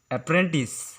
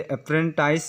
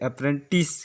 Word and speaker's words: apprentice: इसका स्पेलिंग होता है APPRENTICE। अगर हम इसे लिखने जाते हैं तो इसे ऐसे भी लिखा जा सकता है APPRENTIS। अप्रेंटिस। इसे अप्रेंटाइज या अप्रेंटिस ऐसा कुछ करके नहीं पढ़ा जाता है, इसे अप्रेंटिस करके पढ़ा जाता है, जिसका अर्थ होता है न्यू लर्नर्स।